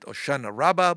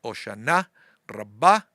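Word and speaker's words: Hoshana Rabba: Here they call it Oshana Rabba, but the Israeli pronunciation, the Sepharic pronunciation, the one that I learned at school is Oshana Rabba.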